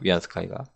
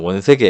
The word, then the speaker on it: 위안스카이: 위안 스카이거게 사람 이름입니다 위안스카이가 옛날 분들은 원세계 이렇게 읽는데 우리나라 한자 그대로 읽어서 우리나라식 한자 발음으로 자 위안스카이는 마치 총처럼